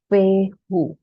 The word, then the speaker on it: Fehu: This is called पेहू, the symbol. It is pronounced as पेहू.